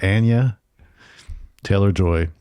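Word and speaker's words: Anya Taylor-Joy: say this again on ana ana ana yeah Ana Taylor joy we just learned that this is how to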